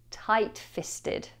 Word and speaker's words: tight-fisted: And there are some silent letters here to try and confuse you. We have tight, tight, tight-fisted.